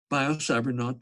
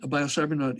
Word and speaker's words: Biocybernaut: which is triple W biocybernaut comm rhymes with astronaut and biocybernaut is - inner space